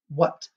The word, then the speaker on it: what: anymore we just say what so the h is kind of silent in this word all right let's see